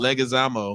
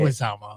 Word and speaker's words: Leguizamo: Legazamo. No, That's it's not how you say it. Leguizamo.